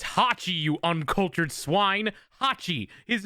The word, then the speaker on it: Hachi: and music tracks from ho Chi's shop I think I'm pronouncing his name right it's Hachi you uncultured swine Hachi